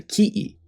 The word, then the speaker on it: ki'i: In Tahitian, this statue would be called a tiki, but in Hawaiian, it's a ki'i. That's how closely related these languages are. T becomes K, and K becomes an okina.